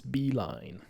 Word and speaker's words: Beilein: to look him up how do you say his name it's beeline well done it used to be